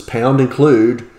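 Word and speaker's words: #include: The top part here is called a preprocessor directive, but it says, we pronounce this as pound include standard io.h.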